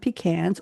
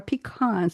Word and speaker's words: pecans: It's a rich, dense cake made with ground pecans or pecans, depending on what part of the country you're from, instead of flour.